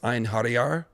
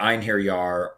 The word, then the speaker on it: Einherjar: Watch zombies, or Odin's, I think it's Einherjar, his dead warriors. I think that's how you say it. Did you freeze or you just... Oh, I might have frozen. Can you still hear me? You did. Did I say it right? Yeah.